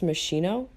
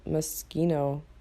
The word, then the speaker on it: Moschino: mosquito pack honestly I've always heard it pronounced Moschino like motional clothes but I don't know like I've been hearing people call it mosquito or as little Sims